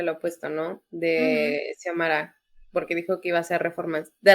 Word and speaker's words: Xiomara: Así se pronuncia Xiomara, ¿no?